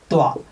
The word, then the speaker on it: क्त्वा: कि त्वा का सिर्फ त्वा बचता है। ठीक है, आप प्रत्यय लिखोगे त्वा, मतलब क यहाँ साइलेंट है, त्वा, मगर बचेगा त्वा। तो कैसे होगा?